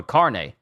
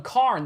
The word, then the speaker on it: Carne: Karn comes directly from the Spanish word for meat dishes, or carne. Wow, I've been calling him Karn this whole time. His name is Carne, like chili con carne.